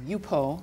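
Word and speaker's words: Yupo: And you told me once there's a paper called UPO, Yes.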